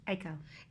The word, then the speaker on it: Aiko: the io spelled is that the way I pronounce it AO or IO AO AO yeah a i k o and eigor e g o r tell us